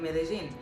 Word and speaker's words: Medellín: medellin by the way somebody said that i'm saying medellin wrong it's actually not wrong this is how they pronounce it here um it's really and